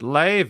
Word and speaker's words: Leve: It's pronounced Leve. I don't know if you guys can see that. Leve. So I've been mispronouncing her name this entire time, which is not ideal, really.